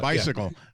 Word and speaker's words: Beisiegel: Close enough, but Bicycle. Yeah. Beisiegel. Okay. Bicycle. Yeah. Bicycle. Like you're saying bye to a seagull.